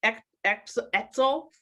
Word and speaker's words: Etzel: So everyone, if you want to know more about Expedient, easy to find, you want to know more about Etzel, rhymes with pretzel, you can find info about them.